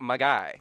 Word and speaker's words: Magi: quest for christmas and it's spelt m-a-g-i not j-i or j-y or g-y or any other way you say that word just like mag um yeah it's like my guy hey what's up my